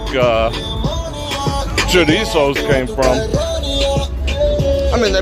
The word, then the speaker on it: chorizo: cover the chorizo oh let me say it properly chorizo with bacon oh my